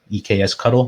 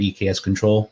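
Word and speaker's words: eksctl: things like our um eks cuddle or eks control depending on how you like to pronounce it which is a a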